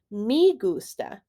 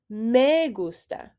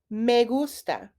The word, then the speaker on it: me gusta: make sure to be careful with how you're pronouncing the indirect object pronoun mei many native english speakers will say me gusta instead of me gusta but this is not correct m e in